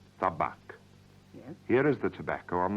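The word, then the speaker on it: табак: the Russian for tobacco is tobacco is T pronounce tabac tabac here is the Tobacco on the table what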